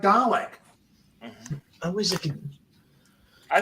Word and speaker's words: Dalek: Hey, Dale K. Words. I'm not British. I don't know how to pronounce things. I'm Canadian. I can barely read. It's pronounced Dalek.